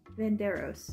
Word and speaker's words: Venardos: I can't pronounce it. Verano's? Hold on. I don't know. Hold on. Venardos.